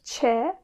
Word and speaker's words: Ç: Buradaki harfimiz Ç, İngilizce'deki C ve H harfinin yan yana gelmesi gibi, yani chair gibi ya da cheese gibi telaffuz edeceğiz.